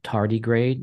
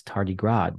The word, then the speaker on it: tardigrade: and um you know I used to pronounce the word uh tardigrade as tardy grad because I didn't know yes yeah and the